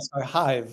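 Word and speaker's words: SkyHive: I'm going to pronounce this horribly. Sky Hive. Is that right? You got Sky Hive.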